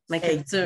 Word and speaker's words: McArthur: MacArthur. McArthur, je le dis toujours en français, puis là, je suis comme, oh non, c'est vrai, Ouais, elle le c'est correct. prononce. C'est bien correct.